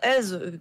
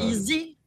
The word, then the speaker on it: EZ: Bah non, Ez, quand t'écris EZ, ça se dit Ez. Ouais, mais, Pas easy. Sinon, t'aurais écrit easy. ouais, mais tu Easy, prononces, tu non. vois, tu prononces le E à l'anglaise, ça fait easy, tu vois, avec le Z à l'anglaise. Moi, quand je vois EZ, je prononce Ez.